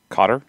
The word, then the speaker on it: Qatar: to native english speakers beginning with the initial consonant in cutter the q makes for a hard k sound but one with its origins deep within the throat a poor english equivalent is the c in cough the fur the words first vowel sound is similar to ah as in ah shucks but not nearly as